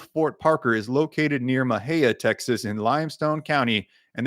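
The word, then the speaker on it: Mexia: Yeah, there's a old Fort Parker in Maha. If you're not familiar with Texas, none of none of the towns are pronounced like they they are spelled.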